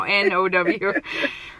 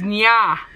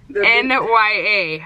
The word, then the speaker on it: Nya: Her name is Nya. N-Y-A. I think I'm saying it right, but apparently it doesn't sound like it. It sounds like now. Now, she said. No, it doesn't. It's Nya. Yeah, it's Nya.